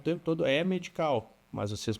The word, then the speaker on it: EH Medical: Até aproveitando, eu tô falando o tempo todo é medical, mas vocês pronunciam diferente, né? É, a gente usa o H como acendo. É medical. É medical.